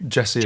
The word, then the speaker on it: Djesse: Pronounced Djesse, I think. Djesse is correct.